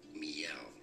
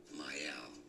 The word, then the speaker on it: Mielle: Too many people say it as Mielle, right? Mielle. But the correct pronunciation is actually as Mielle. As was Mielle. Stated by the brand itself.